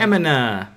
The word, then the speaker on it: Emina: It's an enema. Emina.